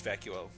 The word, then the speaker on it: Vacuo: yes I think it's I think it's vacuo I've always pronounced like vako or something like I